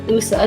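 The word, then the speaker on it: OUSA: two external advocacy organizations the ontario undergraduate student alliance which is pronounced usa not to be confused with woosa and the undergraduates of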